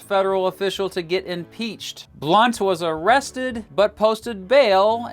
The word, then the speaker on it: Blount: Number 9, William Blount. Yeah, that's how you pronounce his name.